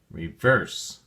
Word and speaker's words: reverse: Reverse has two syllables and the emphasis or stress is on the second syllable verse. So, we say reverse.